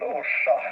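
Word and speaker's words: Orsa: small live in a small village here called Osha. We spell it like Oscar radio Sierra Alpha located I would say somewhere somewhere around uh 250 miles northwest of Stockholm.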